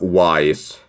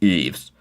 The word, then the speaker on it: Ys: I really hope that I pronounced the name right, because it's not Wise like you would expect, but it should be Eve's.